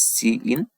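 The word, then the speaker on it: cin: yes it contains the Declaration for C in C out statement it is pronounced as C in it is pronounced as see out so now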